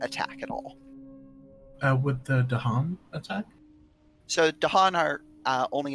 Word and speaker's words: Dahan: Tahan with a T. It's with a Dahan D. with a D. Yeah. Okay, Dahan.